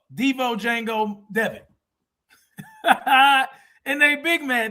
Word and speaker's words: Django: Devin is Django. Devo, Django, Devin. And they big man. They like, man, what this nigga doing on that horse? And the J is silent.